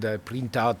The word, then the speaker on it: Prentout: How do you pronounce it? Yeah. Prentout.